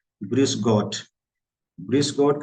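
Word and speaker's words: Grüß: इसका प्रोनाउंसिएशन होता है यू, यू के जैसे। इसको क्या बोलेंगे, gross, not gross, gross, gross. Something like जैसे इंग्लिश में बोलते हैं Duke, not exactly but something like.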